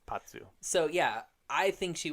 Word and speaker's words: Pazu: Patsu, yeah, that's right. It has a Z. I know, but it's that kind of Italian pronunciation of the Z, Patsu.